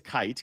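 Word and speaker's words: Kight: Who is Amari Kite? Amari Kite? Yeah. First of all, for people that keep wondering, it is Kite, K-I-G-H-T. There's no N that's missing.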